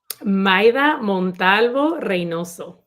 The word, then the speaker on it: Maida Montalvo Reynoso: How do you pronounce her full name? Maida Montalvo Reynoso. See, you did you rolled your R's again.